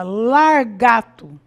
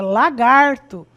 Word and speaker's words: lagarto: deslocando esse R do interior da sílaba, então nós podemos perceber a sílaba largato. Então aí já foi um deslocamento dentro da palavra. Ao invés de eu dizer dizer lagarto, que é o correto, é lagarto. Então eu vou dizer largato.